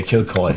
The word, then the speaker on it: Kilcoy: the name of Ky kilcoy kilcoy kill is like kill kill it's like kill and koi okay kill koi yeah yeah okay the